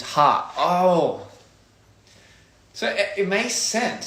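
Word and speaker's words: ห้า: In Thai, we pronounce 5 is ha.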